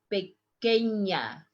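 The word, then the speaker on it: pequeña: it's i want you to listen how i pronounce pequena that means petite small tiny yo soy pequena begenya here you are going to find underline a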